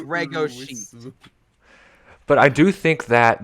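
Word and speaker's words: Legoshi: and it's redko sheet it's pronounced ruisu and bragoshi yeah it's reggo but i do think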